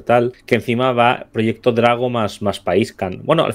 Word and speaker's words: Drago: Drago con el acento en la A. Drago. Proyecto Drago. Drago. Ah, vale, claro, no es Drago. Claro. Drago, vale. Pues Proyecto Drago.